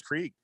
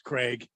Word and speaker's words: Craig: Oh, Craig. I thought it was Krieg. Yeah, it's Craig. Yeah. It looks like Krieg. It's Dave Craig.